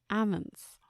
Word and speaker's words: almond: Almonds. Almonds. Almonds. Almond. There's an L in there. It's a silent L.